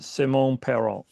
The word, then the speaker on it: Simon Parent: I know it looks like Simon Parent, but he's French, so he says Simone Peron.